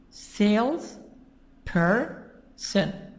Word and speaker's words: salesperson: Sales person. So jumper, two parts. Salesperson. You have here what? 1, 2, 3. 3 parts. 3 syllables. But where is the stress? The stress is in the beginning.